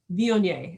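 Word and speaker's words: Viognier: do you do it and the woman's like vioni and i'm like like mayonnaise only not the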